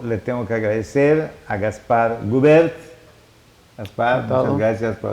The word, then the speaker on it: Gaspard: Gaspar, con D al final, no es del Gaspar, termina en D, y creo que la pronunciación... Gaspar. Sí, pero Gaspar, ¿pero qué pronunciación? ¿Es francesa o brasileña? Es francesa más que nada. Es francesa. Pero Gaspar.